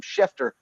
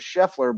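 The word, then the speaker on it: Scheffler: name wrong last night you kept calling him shefer uh instead of sheffler but you were right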